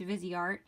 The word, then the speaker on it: Viseart: Sorry, I keep on mispronouncing it. It's Viseart.